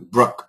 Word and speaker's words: Brooke: And your pronunciation of Brooke was really good too. Brooke, Brooke, like neighborhood. It's that sound. Brooke.